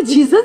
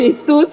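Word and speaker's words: Jesus: जो कार्ड मिला तो उसमें लिखा था जे ई एस यू एस तो मैं तो उसको जीसस ही मिलाती थी फिर पता चला कि वो सूस है जे साइलेंट है हम थोड़ी कोई एक्सपर्ट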